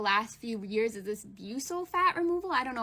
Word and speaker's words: buccal: Isn't it buccal fat?